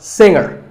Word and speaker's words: singer: Now, we say finger, we say the G. Younger, again with the G, but singer, no G.